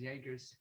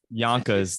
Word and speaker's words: Yonkers: No, nobody says Yankers. It's just me. It's Yonkers. There's no R.